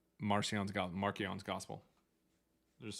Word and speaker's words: Marcion: Marcion is pronounced Markion back then and it means little Mark.